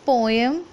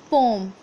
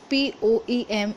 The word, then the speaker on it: poem: Very first thing children, it's not poem, it's poem. The exact pronunciation of the word P-O-E-M is poem.